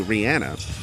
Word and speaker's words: Rihanna: Rihanna, by the way. Is it? Okay. Yep. I've never heard that. That's how you say it, actually.